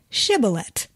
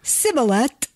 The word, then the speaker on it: Shibboleth: When he said no, they said to him, "Then say Shibboleth." And when he said Sibboleth, for he could not pronounce it right, they seized him and slaughtered him at the fords of the Jordan.